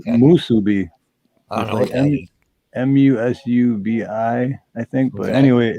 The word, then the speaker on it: musubi: saying it right but musubi musubi musubi wasabi wasabi guess what that's why I always get it mixed up because I always go to say that but it's not that musubi m-u-s-u-b-i I think but